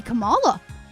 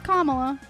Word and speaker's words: Kamala: some people still don't know how Kamala Harris is the word comma with la. And people still are like, "Well, what am I supposed to do?" Learn how to say Kamala. It could be Kamala. Well, it could, but it's not. It's Kamala.